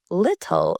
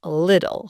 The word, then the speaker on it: little: Just like our earlier example of gota, we again use the flap t. Instead of pronouncing it like little, we say little.